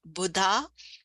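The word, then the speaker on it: Budha: So one word about Buddha, the pronunciation, Buddha. Buddha is the enlightened one and Lord Buddha, but Buddha is Mercury.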